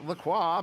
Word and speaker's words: Lacroix: And you've got Lacroix back in the lead here. And despite the fact that we're using a French pronunciation there for Lacroix, this is a North American game.